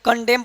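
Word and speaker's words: condemn: आइए इसके बाद यहां पे देखिए एम के बाद एन हो तो एन साइलेंट होता है। तो मैं आपको पढ़ा ही दिया हूं। हालांकि एक बार और बता रहा हूं। इसको ऑटम पढ़ेंगे, साल पढ़ेंगे। इसको कॉलम पढ़ेंगे, कंडेम पढ़ेंगे और डैम पढ़ेंगे।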